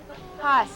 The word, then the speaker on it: Hus: How do you pronounce his name? Haas.